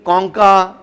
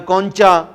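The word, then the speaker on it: concha: अब एक बोन जो होती है जिसको हम इंफीरियर नेजल कॉन्का या कॉन्चा बोलते हैं, 2 मुख्तलिफ उसकी प्रोनाउंसिएशंस हैं, कुछ में कॉन्का भी बोला जाता है, कुछ कॉन्चा भी बोलते हैं।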